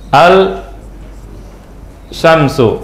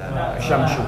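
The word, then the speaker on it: الشمس: Al Qamar ini Al Al Syamsu betul enggak bacanya alsyamsu asyamsu Yang benar benar apa asyamsu asyamsu asyamsu asam lamnya kebaca enggak engak tidak terbaca asyamsu asamadu jelas jelas lamnya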